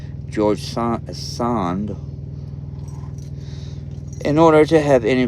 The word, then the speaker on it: Sand: example is George S or George son um or I should pronounce it in a better way George sand um it was a